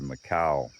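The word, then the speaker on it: Makoua: that I've been calling Makoa. M A K O U A, but probably should be pronounced closer to Macau.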